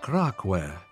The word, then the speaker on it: Kraak: has a special name it's called kware because KCK and Clark is the same pronunciation in Chinese he got excited and